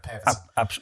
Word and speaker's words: Pervitin: Yeah, I'd say the recommended dose of, if I can pronounce it properly, Pervitin. Pervitin. Yay, there we go, Pervitin.